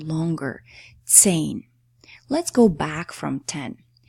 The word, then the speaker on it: zehn: And the last, the number 10 is zehn. Zehn. Okay. So h in the middle of the word, if it follows a vowel, never has a sound on its own it just makes that vowel, preceding vowel, sound longer.